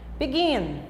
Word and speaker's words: begin: Begin. Gin é a sílaba mais forte.